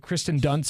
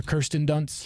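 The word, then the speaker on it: Kirsten Dunst: Well, they don't realize the I comes before the R.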